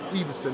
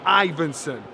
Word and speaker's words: Ivansson: And then Johnny came because like Adam tried to pronounce my name earlier on saying Evenson. It's Ivansson.